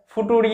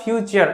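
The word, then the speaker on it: future: যারা ভুল করে দেয় ফুটুরি বা ফুটুরে এরকম ভাবে অনেকে বলে দেয় কিন্তু একচুয়ালি একচুয়ালি ফিউচার বানানটা এরকম ভাবে লেখা হয় এবং এই শব্দটাকে উচ্চারণও করা হয় ফিউচার এরকম ভাবে ঠিক আছে আই থিংক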